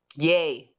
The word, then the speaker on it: Ye: he changed the name to yi this week yay yeah yeah yeah that's how you pronounce it okay all right well well congratulations